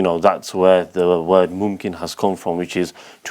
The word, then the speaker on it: Mumkin: course yeah um so mkin in Arabic means possible and you know oh so I'm saying it wrong it's not mkin it's mkin okay yeah